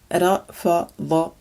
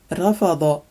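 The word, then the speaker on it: رفض: This is rafada, rafada, and it means to refuse.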